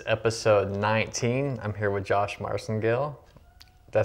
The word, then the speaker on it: Josh Marcengill: I'm here with Josh Marcengill. Did I say that right? Yeah, you did, actually. That's great. Right. I pronounced it right.